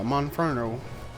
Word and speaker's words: Monferno: to say it what this Monferno right yeah Monferno it's the more monkeys with fire in hands